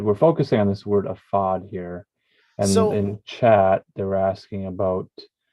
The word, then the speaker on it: ephod: So the ephod or aphod, it's is aphod apparently is how it's pronounced. Rarely ophod.